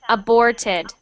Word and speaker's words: aborted: better next one aborted aborted okay aborted so get that R sound in there aborted aborted much better and